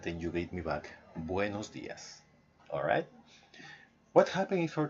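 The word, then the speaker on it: buenos días: always is buenos dias no buenas Dias but buenos dias say with me Oh buenos dias one more time buenos yes exactly that's how you say it ok and that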